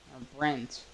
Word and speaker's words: Brent: Here comes Brett Rucker. Brent, not Brett.